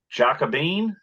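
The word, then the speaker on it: Jacobin: this article is by jacobean is that how they you pronounce it right but that's how we pronounce it so they talk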